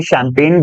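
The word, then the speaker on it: champagne: चांदी ने अगर पढ़ के देखें तो यह शैंपेन बोला जाएगा सर दिस इज चैंपेन कि चैंपेन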